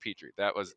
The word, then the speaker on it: Petrie: It's like Land Before Time. It's the character Petrie.